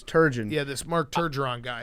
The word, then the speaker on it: Turgeon: was awesome turgeon is an all-time uh dad mispronounced name yeah dad's across america either call him turgeron yeah or they call him sturgeon which is actually the name of a fish yep but it's turgeon yeah this mark turgeron guy i also like